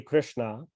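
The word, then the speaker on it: Kṛṣṇā: Finding the Krishna with a long A at the end, in this context, is another name of the Yamuna River, named for being very dark.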